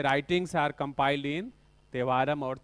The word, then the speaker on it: Thevaram: Compiled in तेवारम और थेवारम। टी ना, like C in south India if you right Amrita, so they right like this, रिथा, TH फॉर टी है ना, pronunciation उधर का अलग होता है हम लोग ना, तिरुअनंतपुरम